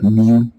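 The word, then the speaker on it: μ: but it's pronounced like mu like the sound the sound a cat makes I guess so that's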